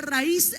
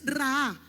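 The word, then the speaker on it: ראה: ver viene de la raíz ra anote ahí con acento en la última a ra la palabra ver ahí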